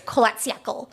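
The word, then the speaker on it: Kholat Syakhl: I think you really missed it by not calling it Holatchal Mountain, the book. I'm sorry, it's Holatchal. Okay. I was missing a syllable.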